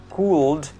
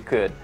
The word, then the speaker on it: could: Semua bunyi L yang saya garis bawahi itu tidak dibaca sama sekali. They don't pronounce that. Jadi bukan could tapi dibaca could, bukan should tapi dibaca should, bukan would tapi dibaca pendek, semua dibaca would.